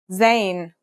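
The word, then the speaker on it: زاي: In terms of pronunciation, you say it just like the English z, as in zebra, or Al Jazeera.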